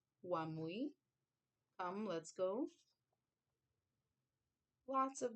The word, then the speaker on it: wamui: So you'll see here one phrase come let's go and then in menday you would say wamui I believe that's how you may pronounce the word is spelled m ui mui wamui um let's go lots